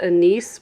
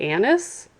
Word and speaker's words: anise: of oh I love I said I pronounced it a nice but I think it's really anise just recently learned that but I've always called it a nice and so does everyone else in my family but I love that